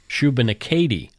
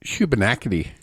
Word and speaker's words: Shubenacadie: Or as people pronounce it on the U.S. news, Shubenacadie. No, Shubenacadie. Shubenacadie.